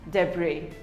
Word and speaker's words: debris: it is pronounced as debris the bree the s is silent debris we all have